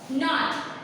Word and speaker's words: knot: नॉट, KNOT, नॉट यानी कि के जो है वो फिर से साइलेंट हो गया।